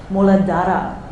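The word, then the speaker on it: मूलाधार: the roots the root chakra in Sanskrit it's pronounced muladhara so it's our connection to the earth element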